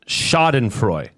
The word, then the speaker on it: Schadenfreude: Oh, and it's pronounced Schadenfreude.